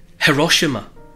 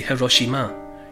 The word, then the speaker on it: Hiroshima: When it comes to pronouncing Japanese names, all syllables have the same stress. So we tend to say things like Hiroshima or Nagasaki.